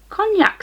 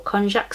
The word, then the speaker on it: konjac: cool so we've got a cognac sponge or konjac sponge I'm not sure how you pronounce it but in my head it's cognac so maybe I'm just